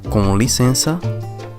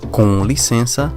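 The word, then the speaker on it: com licença: it is very simple you may use either cannoli Sensa cannoli Sensa or just the sensor li sensor to be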